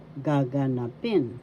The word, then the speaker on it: gaganapin: panahunan gaganapin will happen first syllable ka second syllable ka third syllable na fourth syllable gaganapin fourth syllable has accent you pronounce this or inagalog gaganapin gaganapin gag That means will happen.